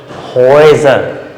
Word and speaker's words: Häuser: house, two houses, Häuser, look at the sound, A umlaut and U together, Häuser, it was only A and U, so house, okay, pause.